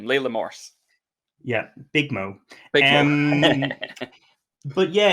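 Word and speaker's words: Leila Morse: wonderful she's so good leela morse we should say her name layla morse yeah big mo but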